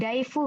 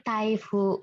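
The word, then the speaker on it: 台風: Kemudian juga muncul di kosakata taifu. Nah, di sini hati-hati minasang, ini kan bacanya dai. Ini dai juga, tidak ada masalah mungkin untuk ingatnya. Nah, di sini dia bukan daifu minasang, tapi taifu.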